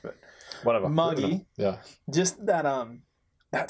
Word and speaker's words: Magi: as they call it Magi is how it's traditionally pronounced in the last but what a muggy yeah just that um